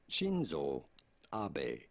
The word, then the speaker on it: Shinzo Abe: party since 2012 how do you go about pronouncing his name shinzo abe i was right i was right i was like so uh shinzo abe has been slain uh he was shot uh